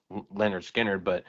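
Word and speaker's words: Lynyrd Skynyrd: before they officially recorded the first major album pronounced Leonard Skard.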